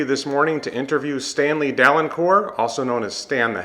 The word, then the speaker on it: Dalencourt: Dalencourt, Stanley Dalencourt.